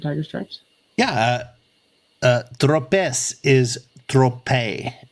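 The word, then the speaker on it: Tropez: stripes yeah uh uh tropes is Trope the last letter in a French word is almost always silent oh okay Trope okay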